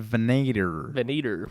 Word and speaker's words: Venator: Is that how you pronounce it? It is. Okay. Right on the dot. Venator.